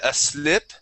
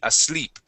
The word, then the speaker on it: asleep: right you would said a slip okay don't be afraid of that e okay we want to say SLE asle that that's a Spanish I sound asle asleep try that okay as sleep there